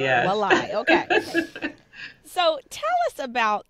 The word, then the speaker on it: Walai: Because I was reading the pronunciations, but I was like, is it Wali or Walai? It's Walai. Walai.